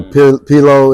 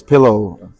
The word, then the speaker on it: P Low: feel it represents so P pillow is pillow as in pillow can you spell it P Das l o w but it's pronounced like pillow pillow white pillow pillow